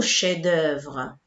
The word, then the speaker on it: chefs-d'œuvre: On dit des chefs-d'œuvre. Il ne faut pas prononcer le F, s'il vous plaît.